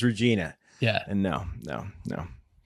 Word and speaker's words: Regina: Shields is watching from Regina saskat it's Regina Regina Regina Regina that's how they pronounce watching inside they don't